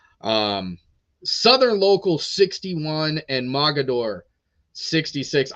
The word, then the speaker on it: Mogadore: Southern local 61 and Mogadore 66. I probably said that name wrong because it doesn't matter where I'm at or what company I'm in I'm pretty sure I always get corrected Mogadore mogador the the team with